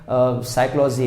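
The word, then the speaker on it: psychology: देखो हिंदी में हम जो वर्ड को बोल रहे हैं, अब जैसे साइकोलॉजी है, अब आपको लग रहा होगा साइकोलॉजी S से स्टार्ट होती है, लेकिन उसकी जो स्पेलिंग है ना PSY से स्टार्ट होती है।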